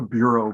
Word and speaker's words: Bureau: as in Philadelphia the bureau Brothers Foundry now the bureau Brothers actually were French we had eduard and a shield but your pronounce name is Bureau not Bureau which we would anglicize in Philadelphia and The buho Foundry